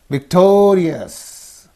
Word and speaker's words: victorious: And then luxurious, luxurious, rebellious, suffix, rebellious, and victorious. In these 2 syllables there is the suffix. So the syllable preceding the suffix is only these 2. Therefore you say victorious, victorious.